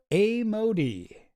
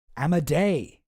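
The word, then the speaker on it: Amodei: Well, this is a dude named Dario A. Modi.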